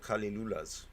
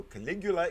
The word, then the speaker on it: Caligula: little bit and um i said a lot of kali lula's and it's not the way you say it he he says you pronounce it okay so caligula it is and i will refrain